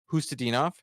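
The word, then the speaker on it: Khusnutdinov: Hustadinov.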